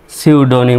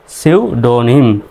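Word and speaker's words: pseudonym: শব্দ শেষে এই শব্দ শব্দের প্রথমে পিএস আছে পির উচ্চারণটা সাইলেন্ট হবে তাহলে এস U see you D ওড এন আই এম নিম সিউডনিম উচ্চারণটা হচ্ছে সিউডনিম এর নোট এটি ওট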